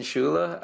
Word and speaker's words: Scuilla: you do it so my name is schula I am a professor at Kansas State University